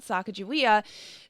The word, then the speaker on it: Sacagawea: languages for a while for example sacajawea that we grew up in was called sacagawea there's my kids watched